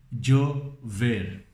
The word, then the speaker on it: llover: Então, para você pegar como se fala isso, por exemplo, tem o nome Diego em português, não? Diego, Diego, Diego, llegar, llover, llanta.